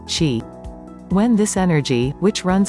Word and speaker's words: Qi: being has a life force or energy called Qi or Chi pronounced Qi when this energy which runs along meridians is